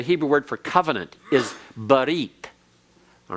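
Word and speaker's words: ברית: Because when the tau is found at the end of a word in Hebrew, it's pronounced as an S.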